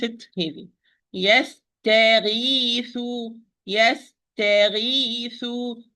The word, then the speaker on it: يستغيث: يستغيث. يستغيث. If I say يستغيث, look, يستغيث, it will be heavy. If I do not open well, ta is wrong.